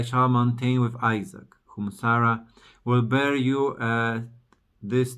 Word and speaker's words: Sarah: Abram, adding the H, become Abraham, and Sarai become Sarah. In English, the H is in the end, so it's not pronounced.